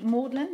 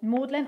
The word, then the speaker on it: Magdalen: So far, I've had several high-profile customers, as well as made weavings for Magdalen. I'm pronouncing it the Oxford way. Is it different in Cambridge? It might be Magdalen.